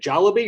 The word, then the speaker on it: Jollibee: Would you say 10 or so years ago that Jollibee, how do you say it, Jollibee or Jolly?